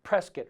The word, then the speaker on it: Prescott: the gunsite academy in prescott rhymes with biscuit arizona with my good